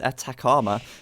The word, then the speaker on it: Atacama: So Very interesting start on this map, and of course this map is Atacama, as I have been corrected in the pronunciation.